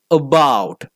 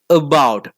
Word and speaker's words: about: it is not about we often mistakenly pronounce that word as about but it is not about in the beginning of that word we have that chandraa sound about about a sound I often